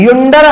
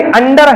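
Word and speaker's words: under: युंडर है कि अंडर है? ये अंडर है।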